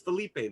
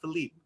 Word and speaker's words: Felipe: It's Felipe, not Philippe.